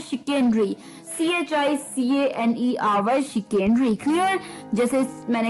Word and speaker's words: chicanery: तो चलिए, द 14th word for the evening was, well, इसकी जो मैंने बताया था प्रोनाउंसिएशन थोड़ी सी अटपटी है, पर मुझे बिल्कुल पता है कि आप भी कर लेंगे। शिकेनरी था, शिकेनरी, ठीक है, शिकेनरी, CHICANERY, शिकेनरी, CHICANERY,